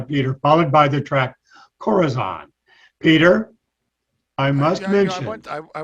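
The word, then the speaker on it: corazón: latin police of their corazon i think it's pronounced corazon yes corazon goddess arizona ladies and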